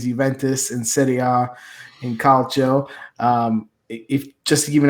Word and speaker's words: calcio: I think it's pronounced calcio. Calcio, huh? Yeah, it's like calcium.